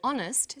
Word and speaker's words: honest: but an honest man the H is not pronounced so honest sounds like it starts with a vowel and where the value